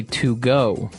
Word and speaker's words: Togo: it, I would say to go, right? But it's not to go, it's togo. Or as my French-speaking friends would say, togo.